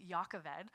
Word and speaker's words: Jochebed: Now, Jockabed, pronounced in Hebrew, it would be Yakaved, uh, means Yahweh is glory or the Lord is my glory.